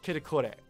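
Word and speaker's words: キタコレ: Used to express things in accordance with their own expectations of the development of the excitement, sometimes omitted as KTKR and pronounced as kitakore.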